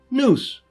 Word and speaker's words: nous: Bar if you'll prefer the OED the definitive English language dictionary says it's pronounced noose like a hangman's knot with two meanings one